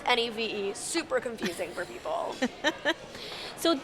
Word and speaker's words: Niamh: Yeah, so it's Niamh and pronounced Neve.